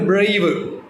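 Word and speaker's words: brave: ഉണ്ട് അഞ്ചാമതും വ്വൽ ഉണ്ട് പക്ഷേ അഞ്ചാമത്തെ വൽ നമ്മൾ അവിടെ പ്രൊനൗൺസിയേഷൻ വരുന്നില്ല ഉച്ചാരണം വരുന്നില്ല വായിക്കുന്നില്ല സോ അതുകൊണ്ട് ആ വല്ല് കൂട്ടേണ്ടതില്ല സൗണ്ട് മാത്രം നോക്കിയാൽ മതി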